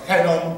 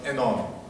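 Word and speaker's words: Hénon: Okay, so I tried to pronounce the name of Enon in French way. Not Henon, but Enon.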